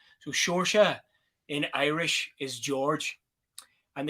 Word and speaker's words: Seoirse: So I have spelt it phonetically. They probably try a lot of different things, huh? Yeah, exactly. So I've literally spelt it phonetically, sure, sha.